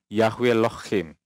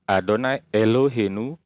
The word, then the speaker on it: Adonai Eloheinu: Oke, Nandar bilang Yahweh Lohim, Yahweh Lohim, Yahweh Lohim, ya. Kata tulisan ini bacanya adalah Adonai Elohenu. Nandar bilang Yahweh Lohim, ya.